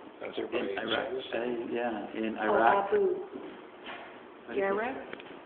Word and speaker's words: Abu Ghraib: I found this recently from the prison in, how do you pronounce that? In Iraq. Yeah, in Iraq. Abu Ghraib? Abu Ghraib?